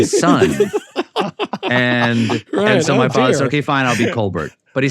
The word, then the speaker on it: Colbert: and it was cold he wanted to be Colbert you know the French pronunciation of the name and his father said